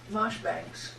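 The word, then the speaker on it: Marjoribanks: or Marshbanks, or Yes. which is spelled Marjorie Banks.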